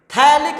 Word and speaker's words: थैलिक: वो इसमें होता है थैलिक अम्ल। ठीक है ना? थैलिक अम्ल, ठीक है ना? वैसे इसको पथेलिक अम्ल बोलते हैं, लेकिन जो पी है वो साइलेंट रहता है।